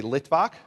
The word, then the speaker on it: Litvak: Say Litvak. Litvak are Jews who came from Eastern Europe, from Lithuania. Litvak is the Yiddish pronunciation of someone who comes from Lithuania.